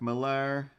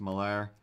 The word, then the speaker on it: Millar: I want to say that was like Rags Morales and Mark Millar or Mark Miller. I think it's pronounced Millar.